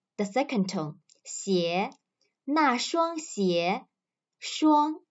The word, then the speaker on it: 双: 鞋那双鞋双 is the first tone.